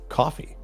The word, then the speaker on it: Ko-fi: It's supposed to be coffee, Someone but it sent should me be a link Ko-Fi.